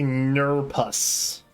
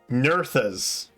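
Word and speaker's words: Nerþuz: How do you say Nurpus? Because it sounds like I'm just pronouncing nervous wrong. Nurthas. Okay, that's helpful. I love that. So the little P symbol is actually a th.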